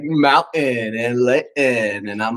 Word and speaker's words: Layton: How I pronounce my T's. Layton. That came from Scotland. I heard it. And everybody picks up on it in Utah. Like, Really? you said Layton.